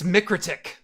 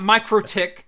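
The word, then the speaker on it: MikroTik: how they say it guess how they say it it's mikritic it's not micro tick it's not micro toxic it's it's not it's microtic that's how they pronounce it so that's how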